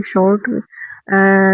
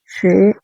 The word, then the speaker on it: 是: और नेक्स्ट है आपका शे। और देखो इसके ना 2 प्रोनाउंसिएशन होते हैं, लाइक इसको हम 2 तरीके से बोल सकते हैं। एक तो शे बोल सकते हैं, एक बोल सकते हैं श्रे।